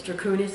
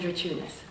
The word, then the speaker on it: Druchunas: So two main ways: Druchunas and Druchunas. Druchunas. So. It's Lithuanian. Lithuanian.